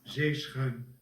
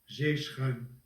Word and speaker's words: zeeschuim: J'ai trouvé ici sur Wikipédia néerlandais un enregistrement d'un homme qui le prononce. Alors, zeeschuim, zeeschuim, zeeschuim, zeeschuim.